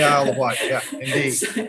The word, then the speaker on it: Isle of Wight: the isle of wight is that is that the right way to say it james yes it is the isle of wight indeed uh which as